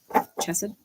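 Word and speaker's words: חסד: Chesed? Okay. No E sound in Hebrew.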